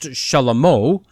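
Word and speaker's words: שלמה: So clearly we see that God told David that he would have a son and name him Solomon, which is actually pronounced Shalamo, which means peace, and that that son was to sit on the throne of Israel.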